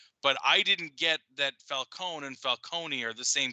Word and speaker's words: Falcone: they're the same but apparently falcone is the right way of saying it like the entire nolan trilogy had said it wrong that makes sense i